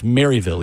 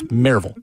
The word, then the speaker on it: Maryville: Don't ever let anyone say it's Maryville either. It's Maryville. The more you know. Yeah. Drop the O is what we're saying. There's no O in Maryville.